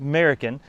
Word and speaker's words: Mariken: People often think it's pronounced like saying an American out there in your garden, but this is actually a Dutch introduction. It's pronounced Mariken, and it's an introduction by Piet Vergelt.